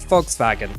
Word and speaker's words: Volkswagen: that it would be Volkswagen it's funny the V is pronounced like an F in German and the W is pronounced like a v it it's it's a